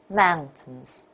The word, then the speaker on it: mountains: and the second one so mountains okay here more stress on the first syllable and this one thousands